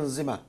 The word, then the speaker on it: Nzema: Je prononce bien Nzema. Nzema. Nzema. Oui, Nzema.